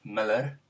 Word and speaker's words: Mueller: Mueller is actually pronounced Miller.